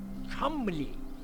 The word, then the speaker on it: Cholmondeley: Chumley.